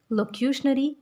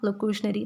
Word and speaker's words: locutionary: सबसे पहले हम फर्स्ट लेवल को देख लेते हैं, दैट इज़ लोक्यूशनरी या लोकेशनरी, दोनों प्रोनाउंसिएशंस इसकी ठीक है।